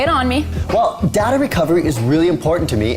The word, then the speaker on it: Recuva: Now, just as a side note, the app may be called Recover, but it's spelled Recuva.